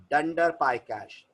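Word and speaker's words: __pycache__: बुलाएंगे ंडर पाय कश सो the name of the folder will be pronounced S ंडर पाय कश यह पाइथन का इंग्लिश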